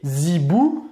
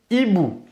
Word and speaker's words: hiboux: pareil pour les liaisons on ne va pas faire les liaisons avec le mot qui précède un effet on ne va pas dire les zibouh les hiboux on ne